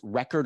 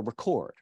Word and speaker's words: record: on different syllables so the nouns have the stress on the first syllable and the verbs on the second syllable English had to figure